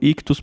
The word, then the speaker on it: Ichthus: Lembrando que Ictus se escreve ICHTHUS. Nas principais plataformas de podcast é só buscar por Ictus Podcast.